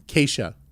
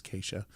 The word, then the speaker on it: Keisha: the Senate because uh Keisha no I said it wrong Acacia Keisha Ram oh I'm so sorry it's Keisha um I believe she